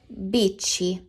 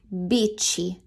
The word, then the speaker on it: bici: Una bici. A bike. Una bici. Whenever you have a letters CI or CE, the C makes a ch, just like in ciao.